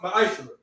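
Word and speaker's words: מעשר: It means 10th in Hebrew and is pronounced ma'ashra.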